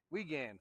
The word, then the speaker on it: Wiegand: Wiegand.